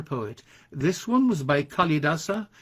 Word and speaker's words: Kalidasa: this one was by kalidasa usually pronounced kalidasa i've never heard it or heard the a pronounced and the second poet